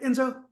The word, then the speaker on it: Enzo Fontana: Uh Enzo Fontana. Um did I pronounce that right? Enzo.